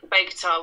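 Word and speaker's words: Bogotá: And the last kind of EP, Bogota, was. I'm saying it wrong, aren't I? No, it's Bogota.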